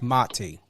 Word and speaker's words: Mati: before we went live it's very important to know how to pronunciate and and I get it you know sometimes you don't correct but it's motty yes yes um even